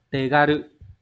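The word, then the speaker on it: 手軽: Từ số câu số 1 này, từ này đọc là tegaru.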